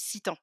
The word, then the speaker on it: Sitan: petit aparté du coup, au niveau prononciation, c'est plus Citan. Mais alors comme on est 2 à porter à peu près le même prénom sur Instagram, je sais que beaucoup font la confusion. Il y a Assitane. Bah, c'est à la base, c'est le même prénom, hein, mais pour moi la prononciation c'est Citan. C'est Citan.